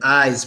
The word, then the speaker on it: eyes: what about ice and eyes pronunciation one has an S one has a z ice s eyes Z ice and eyes ice